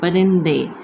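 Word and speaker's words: پرندے: connected with Dal, and over here Noon is as a silent letter, so this is Parin, and then Dal, and the last letter is Badiye, that is giving A sound. Parinde.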